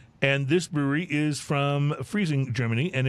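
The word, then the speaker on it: Freising: And this brewery is from Friesing, Germany, and it's Friesing.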